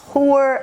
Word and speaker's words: Heuer: Like, there's a watch brand called Tag Heuer that is often mispronounced. People say Auer, people say Heuer, I don't know. So the watches are Tag Heuer.